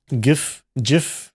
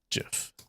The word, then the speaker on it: GIF: GIF. Steve Will, high creator of the GIF format, insisted is SoftG. His intended pronunciation was a deliberate nod to the Jif peanut butter brand.